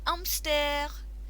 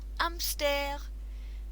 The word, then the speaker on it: hamster: C'est un hamster. C'est un hamster. Now this letter is not pronounced in French.